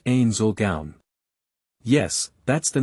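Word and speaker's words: Ainz Ooal Gown: It's pronounced Ain Zulgaun."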